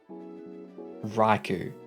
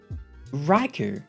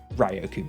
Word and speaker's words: Raikou: Because I'm assuming the A and the I make yay with the mouth. Wait, actually, now I'm curious. Raikou Pokemon. See, it doesn't even make sense. It's spelled Raikou. Ryoku, my ass.